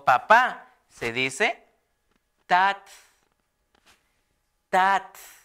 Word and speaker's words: tat: o papá se dice tat tat tat es fácil de pronunciar tat tat es t a